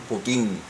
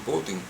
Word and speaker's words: Putin: De igual forma también he escuchado a analistas internacionales cuando se refiere al residente Vladimir Putin pronunciar Vladimir Putín. Yo lo he escuchado, Vladimir Putín y siempre de este lado del occidente como se pronuncia es Vladimir Putin.